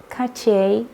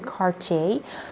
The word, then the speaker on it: Cartier: I actually asked again and it is Cartier. So it is with a hard R. So it is really a little bit French. So you have to say Cartier.